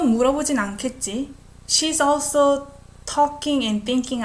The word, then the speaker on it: 않겠지: So first one, 또 물어보진 않겠지? I pronounce it as K sound.